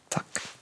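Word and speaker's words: takk: Tack.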